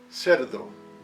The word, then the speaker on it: cerdo: When the letter C is in front of the vowel E, it sounds like the English S. C, C, cerdo, pig.